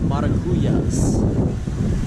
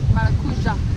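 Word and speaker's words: maracujá: Maracuja is how they say it here.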